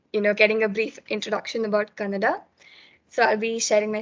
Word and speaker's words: Kannada: Why did I name my session as Kannada Gothilla? First of all, Kannada itself is wrong. You're supposed to say Kannada.